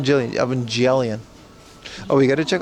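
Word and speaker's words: Evangelion: This is RC and already built Gundam racing boat Evangelian. That's how you pronounce it, dude. Evangelian, not Jillian. Evangelian.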